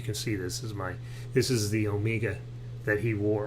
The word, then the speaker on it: Omega: If you can see this is the Omega that he wore, or Omega. Omega is the way they pronounce it in Britain, and it sounds sort of affected to me.